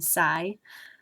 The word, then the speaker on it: psi: And essentially, I'm not pronouncing the P, I'm just saying psi.